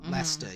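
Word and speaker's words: Leicester: close together is you know it's like or Lester you know but it's Lancaster yeah yeah so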